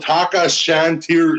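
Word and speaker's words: Tacca chantrieri: It's called a Taka Shantiri, like a Chantery.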